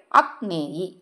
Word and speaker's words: அக்னேயி: இவருடைய பெயர் என்ன அப்படின்னு பாத்தீங்கன்னா அக்னேயி. அக்னேயி இப்ப வந்து ஸ்கிரீன்ல பார்கறீங்க இல்லையா இதான் பெயர் உச்சரிக்கிற முறை அக்னேயி அப்படின்னு உச்சரிக்கணும்.